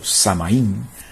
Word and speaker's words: Samhain: El Samhain o Samaín, pronunciándolo como se escribe, era del 31 de octubre.